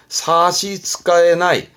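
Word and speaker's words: 差し支えない: 별 지장 없다 그러면 사시츠카에나이, 사시츠카에나이, 지장이 없다.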